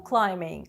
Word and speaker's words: climbing: Rope climbing – лазіння по канату. Зверніть увагу на слово climbing від дієслова to climb. Літера B не читається.